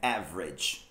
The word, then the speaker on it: average: Duas sílabas também. Average. Dá uma juntada ali. Dá uma squeezed out. Squeezed out. E temos Exatamente. O E, né, que não foi falado.